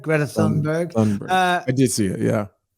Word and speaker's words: Thunberg: Thunberg. Greta Thunberg.